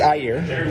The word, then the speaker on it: AEGIR: I think I want to keep saying either AEGIR or AEGIR. AEGIR, but it's AEGIR. AEGIR, like AEGIR.